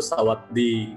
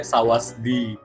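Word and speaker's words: สวัสดี: bisa dibaca jadi N akhiran S dibaca jadi T. Kenapa dibacanya itu Sawatdi. Sawatdi, sering dengar dong. Ya. Yeah. Dan orang-orang banyak nulisnya Sawasdi. Iya gak sih? Nah, karena akhiran S itu dibacanya T, jadi Sawat. Sawatdi.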